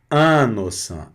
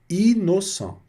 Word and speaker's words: innocent: Muito bem, continuando aqui então, também valendo a regra quando repete as consoantes, né? Então aqui é innocent, innocent, então não vou falar innocent, não, é innocent, tá certo? As letrinhas vão ser pronunciadas separadamente, não vai ter o nasalado.